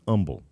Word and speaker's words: Humble: Am I pronouncing that right? Humble? Humble, it's Texan. I'm a Texan now. It's Humble.